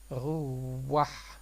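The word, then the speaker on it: רוח: après le premier de rouah et on va prononcer le vav à l'oriental, donc waouh, donc ça va faire rouah.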